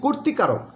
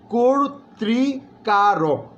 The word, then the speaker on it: কর্তৃকারক: যেমন বলা হয়, আমরা বলি কর্তৃকারক, না, ভুল, বলতে হবে কর্তৃকারক।